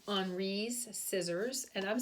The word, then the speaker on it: Henri: Henri's Scissors, and I'm saying Henri because that would be the French way to say it, even though I know my French accent is not good, so don't quote me. But we would pronounce this Henri in English, but I'm going to call him Henri and try to say it that way.